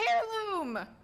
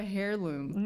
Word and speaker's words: heirloom: I got a heirloom. No, you did not. Wait, did you not? I thought you weren't in the game. No. Also, why'd you pronounce the H in heirloom? Heirloom? I got a heirloom.